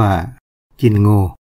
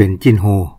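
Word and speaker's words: จิ้นโง: ภาษา ไทย รื้อ ว่า จิ้น โง คำ ว่า งัว ก็ จะ ออก เสียง เป็น โง คำ ที่ ออก เสียง สระ อัว ก็ จะ ออก เป็น เสียง โอ เหมือน หัว เป็น โห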